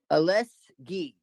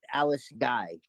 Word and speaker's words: Alice Guy: Her name is spelled G-U-Y. Alice Guy, but it's spelled Alice Guy, but it's pronounced Alice Guy. Alice Guy because it's French.